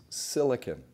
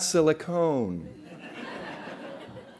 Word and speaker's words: silicon: If you look at the periodic table of elements, one of those is silicon. It is not silicon. Please, it is not silicone. That is the San Fernando Valley, not Silicon Valley.